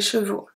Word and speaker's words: chevaux: When a noun ends with AL, it's going to change to AUX, pronounce O. Un cheval, des chevaux.